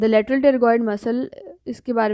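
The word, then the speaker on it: pterygoid: आपका टेरिगोइड muscle जो है वो कॉन्डाइलर प्रोसेस, तो यहाँ पे टेरिगोइड से की जो स्पेलिंग है वो PTERGOID है, तो P से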